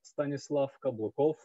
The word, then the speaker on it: Stanislav Kablakov: of my name so my full name is pronounced stanislav kablakov even my colleagues after working with me 10 years some still cannot pronounce it i don't blame them